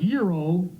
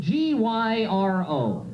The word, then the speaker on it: gyro: have you tried this that's the way you pronounce the word Euro found out the hard way you know the word is spelled g y r o so I didn't know any better I walked